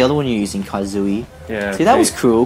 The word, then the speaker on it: Kazooie: Yeah, they were saying Katazooi or something. Kazooi. Like, yeah, that's me, idiot. That's the Kazooi. That's not how you say it.